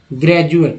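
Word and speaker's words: graduate: अब जैसे डी से ज कैसे होगा, तो एक वर्ड है ग्रेजुएट, सभी को जानते होंगे ग्रेजुएट या ग्रेजुएशन। ठीक है, तो ग्रेजुएट है, इसमें डी को ज उच्चारण किया गया।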